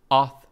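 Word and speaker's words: āþ: Us by way of Old English ah pronounced auth with a long a and has close cousins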